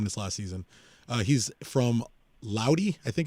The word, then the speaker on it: Lodi: He's from Lodi, I think it's pronounced, California, from Central Cal. It's Lodi. How do you pronounce it?